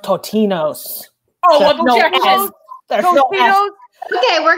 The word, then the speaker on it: Totino's: We're trying to exit, and we're talking about Tostino's, okay? Yes. Eat your dinner at home, folks. Go to the party. Leave the party when you want to leave the party. Council, I'll hear it. It's pronounced Totino's.